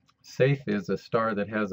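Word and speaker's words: Saiph: most of my life I learned it as scyth but the correct pronunciation is safe safe is a star that has a surface temperature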